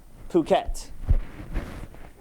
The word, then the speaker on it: Phuket: And then these are your standings for the trip to Phuket. That's what we decided to go with the pronunciation, right?